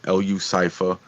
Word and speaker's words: Lu Cypher: I found Evil Pimp, Stanman, Crucifix Clan, LU Cypher, which you know, if you look at it, it's spelled out Lucifer, but LU Cypher.